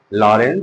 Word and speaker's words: Lorentz: बल का नाम है लॉरेंज बल। ठीक? इसका नाम है लॉरेंज बल। लॉरेंज बल। Force on moving charge in a uniform magnetic field या लॉरेंज फोर्स। यहां पे टी साइलेंट है।